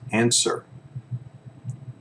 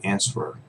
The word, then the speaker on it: answer: So the first word is answer. Answer. The W is silent. We don't say answerer, right? We say answer.